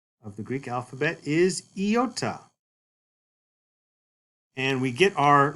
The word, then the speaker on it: iota: And iota is pronounced like a long I, as in the word machine. Machine. Some prefer to refer to this like a double E sound. E, as in meat. But otherwise, we talk about it as a long I sound. Machine. E, E.